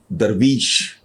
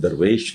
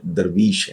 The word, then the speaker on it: درویش: Basically اس کا تلفظ ہے درویش. لفظ درویش نہیں ہے، درویش ہے.